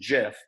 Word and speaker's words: GIF: creator of the gif said that it's pronounced jif but either is acceptable because it's amazing graphics